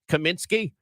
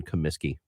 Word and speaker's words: Comiskey: no way no yeah I thought it was Kaminsky that's okay you live here you don't live there I'd say 30 of the population of Chicago doesn't know there's no n in Comiskey wow I would have